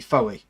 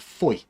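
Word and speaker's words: Fowey: Apart from, I mean, there's a place called it's spelled Foway, which you'd think would be Foey, but it's actually called Foy, and they get really upset with people for not pronouncing it properly.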